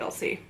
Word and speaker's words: Elsie: butchered your first name cuz I'm pretty sure it's supposed to be LC but maybe it is